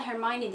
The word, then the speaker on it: Hermione: Normalde Hermione diye okunuyor ismi. Dublaj yapan insanlar Hermione diyorlarmış. O yüzden ben de Türkçesinde Hermione olarak bahsedeceğim.